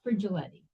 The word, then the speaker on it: Frigiletti: I was just going to say it's Frigiletti. Frigiletti. It's almost like with a CH. Yes, Fridge. It's like refrigerator.